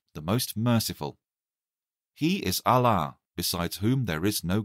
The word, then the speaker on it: Allah: his name is allah it is pronounced allah with a long vowel a also god has many